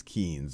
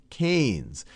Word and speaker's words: Keynes: picture of John mayard kees and I often mispronounce him as kees because that's how it's spelled but it's John mayard KES and he was an economist who did a